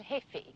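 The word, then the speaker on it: jefe: The J is silent. El hefe.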